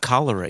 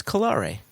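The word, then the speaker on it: Colere: It's not cholera either. It's Colare. Colare. That's how you pronounce it.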